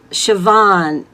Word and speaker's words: Siobhan: Okay, Siobhan, and I'm so glad I know how to pronounce your name that I I'm not mispronouncing it the way it's spelled. Siobhan is saying eating junk food when stressed.